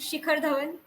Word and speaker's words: Shikhar Dhawan: Pronounce it Shikhar Dhawan. Shikhar Dhawan. A little bit. The H should be a little bit prominent.